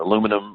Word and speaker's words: aluminum: copper uh plate uh foils or using uh aluminum or aluminium however you pronounce it foils uh you do there those